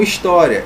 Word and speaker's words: história: acentua Ok beleza então história história olha aqui é mais forte tá aqui na penúltima sílaba é paroxítona terminada em